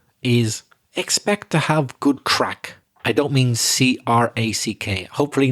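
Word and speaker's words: craic: problems for sure but the crack i'm talking about is spelled c-r-a-i-c it's an irish word but a lot of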